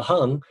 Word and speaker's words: Hang: and then uh the birth of the the hung um it's spelled hang in uh english h-a-n-g but um